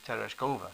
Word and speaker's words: Tereshkova: valentina i don't know i think you meant to put the accent on the third syllable so tereshkova yeah oh okay she's